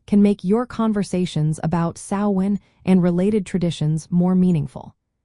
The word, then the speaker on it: Samhain: In Scotland, for example, the pronunciation may sound more like suvvin. This difference occurs because the mh in Scottish Gaelic can produce a V or W sound when you travel through Ireland.